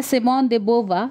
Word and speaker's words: Simone de Beauvoir: ये जो टाइटल है साइमन देबोबा ये एक फ्रेंच टाइटल है ये फ्रेंच नाम है तो इसे ऐसे ही प्रोनाउंस करेंगे इसके स्पेलिंग पे मत जाइए सो लेट स्टार्ट फर्स्ट